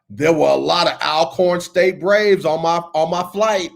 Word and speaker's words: Alcorn: I'm gonna tell y'all like they tell us, it's not Alcorn, it's Alcorn. They will get mad Yeah, if you man. not pronounce the name of that school right. If you don't pronounce it Alcorn like it's supposed to be, they will come